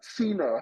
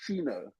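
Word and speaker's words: Gcino: silent G is it Ceno I think it's Ceno Ceno okay I think it's Cen I think the g is silent and you pronounce it Ceno okay uh is Ceno and I meeting today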